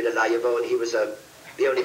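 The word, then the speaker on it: Laillavault: The name is Pertwee, P-E-R-T-H-U-I-S, small D-E, Laillevaux, L-A-I-L-L-A-V-A-U-L-T.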